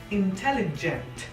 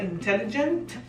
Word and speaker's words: intelligent: una E, recuerdes que esa G se pronuncia como si fuese una Y. Por eso es que se pronuncia intelligent. Otro detalle, ¿ven la T al final de la palabra intelligent? No quiero que pronuncien intelligent. Tienen que pronunciar muy bien esa T.